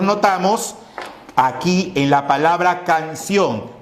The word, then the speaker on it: canción: Canción. Pero, ¿cuál es la pronunciación de esto en sí? Canción. ¿Cuál es la sílaba que suena más? La sílaba que suena más es ción.